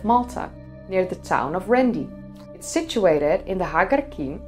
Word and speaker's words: Qrendi: The Q in Qrendi is silent, pronounce as Rendi The Mnajdra temple complex is located on the southern cliffs of the island of Malta near the town of Qrendi.